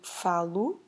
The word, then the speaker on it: falo: So for eu, meaning I have to change falar into falo, because that O we pronounce it as a soft U, is the ending for present.